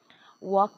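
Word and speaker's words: walk: तेव्हा ते सायलेंट राहील वॉक च स्पेलिंग मध्ये बघा डब्ल ए एल के L silent आहे लाल अक्षर सायलेंट आहे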